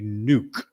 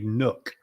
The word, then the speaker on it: nuke: PR pronunciation of a nuke some people say a Nook a Nook is different than a nuke so if you're having